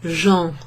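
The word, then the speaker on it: gens: filler you will use jean jean jean jean and it sounds like the word Jean g-e-n-s which means people you'll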